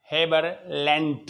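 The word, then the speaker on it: Haberlandt: ये गोटलेब हेबरलैंड, है ना, ये डी साइलेंट है।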